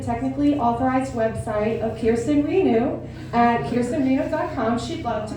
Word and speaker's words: Reneau: Reneau. Okay, I was like, I always pronounce it I Reneau.